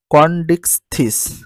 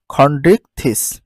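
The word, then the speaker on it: Chondrichthyes: উচ্চারণ correct pronunciation ফেট্রোমাইজন তারপরে দেখো দ্বিতীয় শ্রেণী কন্ডিক্স থিস তাহলে সঠিক উচ্চারণ হচ্ছে খন্ডিক খন্ডিক থিস সাধারণ বৈশিষ্ট্য এ পর্বে সকল প্রাণী সমুদ্রে বসবাস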